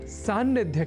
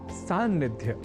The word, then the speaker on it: सान्निध्य: भाषाओं के प्रयोक्ता भी सन्निधि शब्द के लेखन और उच्चारण में किसी प्रकार की अशुद्धि नहीं करते, पर सन्निधि शब्द से बने सान्निध्य शब्द में हो जाती है कुछ प्रयोक्ताओं से चूक।